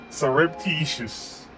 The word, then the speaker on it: surreptitious: hold on hold on surreptitious okay oh sir up like syrup stir up surreptitious surreptitious it's